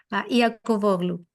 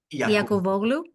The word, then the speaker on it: Iakovoglou: How do you pronounce your name? Yes, indeed. Iakovoglou. Iakovoglou.